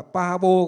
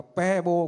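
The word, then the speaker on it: Pääbo: Hai chữ A nhưng mà lại có cái dấu chấm ở trên. Thì hơi đọc hơi mềm đi như là tiếng Đức, umlau của tiếng Đức. Thế đọc là Pabo cũng được mà Pebo cũng được. Thế thì chúng tôi những người đi Đức về thì có thể quen là đọc là Pebo, chứ không phải Pabo.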